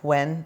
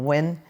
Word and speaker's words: Nguyen: And it's pronounced, even though it's spelled Nguyen, it's pronounced like when or win.